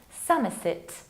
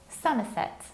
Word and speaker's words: Somerset: However, this one you can pronounce in two different ways. You can say Somerset, Somerset, with similarly reduced ending as in Dorset. But you can also say Somerset, Somerset, and majority of British people pronounce it like Somerset.